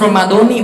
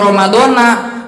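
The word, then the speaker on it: رمضانِ: Cuman kalau biar teman-teman membuka wawasan aja ini mah ya, niat puasa itu yang benar kalimat Ramadannya harus Ramadoni bacanya. Karena kalau Ramadana artinya jadi error, belepotan.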